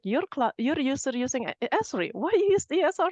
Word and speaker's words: Esri: And to know that you actually pronounce it Esri as well. We're not just making up the pronunciation of it.